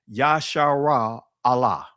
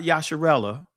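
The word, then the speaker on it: ישראל: When you look at Israel's name, Yasharah Allah. Not Yasharella, is Yasharah Allah. That's the proper pronunciation of the ancient word for Israel.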